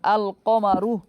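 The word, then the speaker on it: الْقَمَرُ: আসে, আলিফ লাম আছে, তো আলিফ লামটা আলাদা উচ্চারণ হয়। যেমন আল কমারু, আল কমারু।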